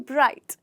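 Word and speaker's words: bright: ब्राइट जी, हाँ जी, जी जो है वो साइलेंट हो जाता है। हम इसे ब्राइट नहीं कहते, हम इसे कहते हैं ब्राइट।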